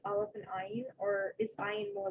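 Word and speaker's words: עין: But Ashkenazi Jews, for the most part, pronounce ayin and aleph as the same sound. You know, basically that whatever vowel gives them flavor, because aleph is silent, you know. But ayin has a little bit of that I, you know, like the constriction of the vocal cord sound.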